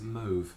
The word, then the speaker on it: mauve: Another colour, which we hadn't prepared this one, that's hard to pronounce, is mauve.